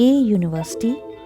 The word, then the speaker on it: university: Let me tell you the answer, that in this word, the sound of the letter U is Y, not U.